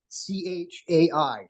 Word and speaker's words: Chai: now James Bean you have shy life or pronounced High Life c-h-a-i chai life genetics yeah Dan from Child Life